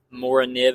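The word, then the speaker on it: Morakniv: Mora nib, if you're a cool kid and you want to say it the way the Swedes do. I think that's how they say it. I'm not Swedish.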